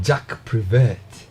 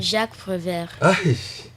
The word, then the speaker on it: Jacques Prévert: Jack Prevert. What's is that? Am I pronouncing it right? Kind of. Can you help me pronounce it properly? Jacques Prévert.